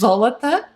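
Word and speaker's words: золото: So gold is zolota. So as usual, Cyrillic spelling is going to be here, and the pronunciation phonetic in English is going to be below.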